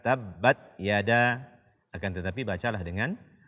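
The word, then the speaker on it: تبت: dimuliakan ada Allah azzawajalla membaca tak sukun tanpa Hamas karena huruf ta salah satu sifatnya adalah Hames ketika kita membacanya disertai dengan Hai aliran nafas atau angin dan b dan Mbak Yada Abi lahabiw tabbat jangan sampai sifat Hamas ini kita tinggalkan dan sampai kita hanya membaca tabbat Yada tabbat Yada akan tetapi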